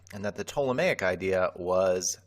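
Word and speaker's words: Ptolemaic: So the prevailing idea until capernicus showed up was the tomic system. Tomic has that silent p in front of it.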